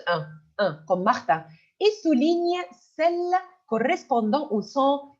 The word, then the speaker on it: Martine: alors regardons c'est Martin le i n se prononce un mais si si on va ajouter la lettre E on va prononcer in Martin Martine alors s'il vous plaît